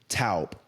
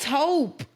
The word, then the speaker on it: taupe: I'mma go get tal. First of all, why would you say it like that? Ta. No, cuz No. Ta. No. What? Tell me how you say it. Taupe. Taupe.